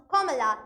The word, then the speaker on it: Kamala: embraced her indian roots my name is pronounced kamala like the punctuation mark early in life young